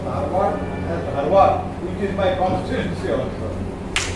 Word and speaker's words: Dharwad: Please I will pronounce Dharwad as Dharwad, which is my constituency also.